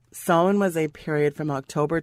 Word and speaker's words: Samhain: h AI n it's an Irish pronunciation pronounced Sol hwon soin was a period from